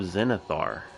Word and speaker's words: Zenithar: But yeah, so we have an event coming called Zeal of Zenithar. Did I pronounce that right?